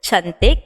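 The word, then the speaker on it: cantik: the way to say beautiful or pretty in indonesian is chantik which is c a n t i k so those are just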